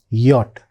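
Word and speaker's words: Jot: Remember J is pronounced as yacht. That's why most of the words which begin with J are pronounced with Yah sound except for the borrowed words in which start with J. Otherwise J is always pronounced with the Yah sound. That's why in German the letter J is yacht.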